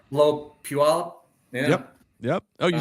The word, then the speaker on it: Puyallup: Right below Puyallup.